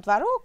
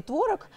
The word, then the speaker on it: творог: Да, ну, мы берем творог или творог. Да. Это такая норма сегодня. И так можно ударение поставить.